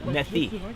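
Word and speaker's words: Methye: And there's a 20-kilometer portage, the Methi Portage, which is in very good condition. What's it called? Methi.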